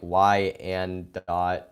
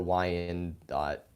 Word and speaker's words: Wyandotte: like really excited for we on dot is pronounced like Y and dot or Wyandotte interesting okay that me